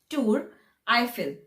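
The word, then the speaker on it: Tour Eiffel: like uh pronunciation way we the way we pronounce we say tour i feel so it's so tour actually means tower tour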